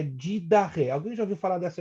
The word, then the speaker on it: Didache: Essa palavra é escrita didache, né, com CHE, mas a pronúncia é didache.